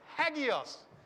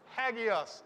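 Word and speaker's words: ἅγιος: you see that right that rough breathing mark gives us that eighty kind of sound that aspirated sound that people talk about it that at the start of a word hagios right hagios is the way you pronounce that word okay so every word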